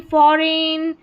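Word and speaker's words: foreign: चलिए next number seven पर है ई आई जी एन। इसको एन करके प्रोनाउंस करेंगे। जैसे रेन फॉरेन सोवरन और यहां पर है फेन और यह है रेस।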